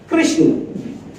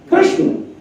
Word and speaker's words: कृष्ण: जैसे मान लो कृष्ण, कृष्ण, स आधा है, ना तो पूरा है, तो NA लिखना पड़ेगा। तो ये शब्द क्या हुआ? कृष्ण। लेके लिखा क्या है? कृष्णा।